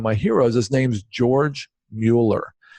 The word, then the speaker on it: Mueller: heroes his name's George Mueller he's actually pronounced Muller but spelled Mueller and he's a German